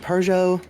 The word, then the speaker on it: Peugeot: Like it it is it is of course a French name. Yeah. Uh, so I I tend to pronounce it Pujo. I've also heard Peugeot.